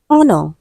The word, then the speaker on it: honor: Option D, honor. Letter H is also silent.